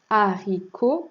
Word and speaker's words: haricots: haricots on retrouve encore la lettre h muette au début du mot comme dans home haricots et le thé à la fin qui ne se chante pas et enfin le mot